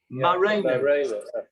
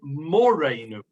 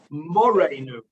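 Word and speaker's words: מורנו: Marenu. Yeah. You know what that means? Actually, it's not Marenu. It's actually Morenu. Vav. We usually say Marenu, but it's incorrectly pronounced. It should be Morenu Harav, and that is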